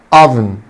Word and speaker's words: oven: ingredients ingredients oven oven. طبعا يا حبايبي حرف الاو بينطق شكل حرف اليو oven، وهنا هخفي الاي لان الاي سايلنت. oven oven.